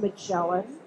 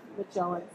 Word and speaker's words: Magellan: So please give a warm welcome for Magellan. Thank you. Thank you, Morris. It's actually pronounced Magellan. Magellan.